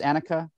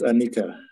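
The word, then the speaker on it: anicca: for example uh annika is it pronounced annika i think it's anika anika okay um so the whole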